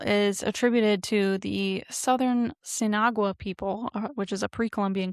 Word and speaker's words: Sinagua: And I was waiting for you to pronounce Sinagua.